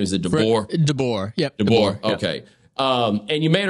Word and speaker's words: DeBoer: about Nick Wright and Freddie, how do you pronounce his last name? Is it DeBoer? DeBoer.